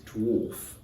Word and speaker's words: dwarf: the right pronunciation is dwarf it has a beautiful or sound in it just like this the